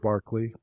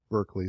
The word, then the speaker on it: Berkeley: of non-physical Concepts so George Barkley or Berkeley some people mispronounce it he was a a